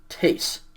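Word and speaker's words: τῆς: a tau and so it's tau eta sigma tase the date of singular is tau ada with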